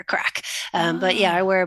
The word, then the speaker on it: craic: So my job is to, and that's spelled CRAIC. So basically, my job is to go into spaces and help loosen up people's joints and help them unleash their inner crack.